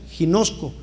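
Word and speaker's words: γινώσκω: Dice: y el término conocer en griego se pronuncia ginosco y significa estar tomando conocimiento.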